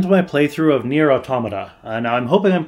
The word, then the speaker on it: Automata: to pronounce the title I believe it's based off of the word automaton and so therefore it's supposed to be pronounced automata but I've also heard people pronouncing it automata or what have you so I'm gonna go